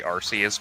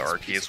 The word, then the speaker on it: Arceus: Anyway, yeah, it used to be pronounced officially Arceus, but then they changed it to Arceus when they figured out that Arce is just basically English slang for ass.